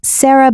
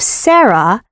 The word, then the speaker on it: Sarah: Furthermore, the first syllable of Sarah rhymes with bear. Sare and bear.